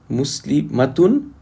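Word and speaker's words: مسلمة: For example, muslimatun and muslimatun. In pronunciation, the only difference between the singular and the plural is the length of the a.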